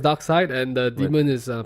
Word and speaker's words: Darkseid: each side that side docks it's called it's pronounced Darkseid and the moon is a parody demon they